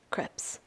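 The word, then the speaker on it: crêpes: Crepes are French in nature, pronounced crepes, not crepes.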